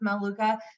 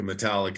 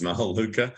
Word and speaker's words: Melaleuca: excited I used to call uh Melaleuca Metallica because I couldn't pronounce Melaleuca um but anyway called